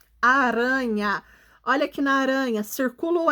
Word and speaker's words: aranha: no meio da palavra na palavra aranha a letra r representa som fraco fraco porque ele está